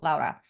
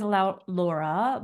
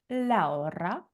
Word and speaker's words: Laura: both myself and or Laura. And her name says Laura, but it's pronounced Laura. Roll your R's. Laura. If you hear me say it that way, that's because that's how it's pronounced.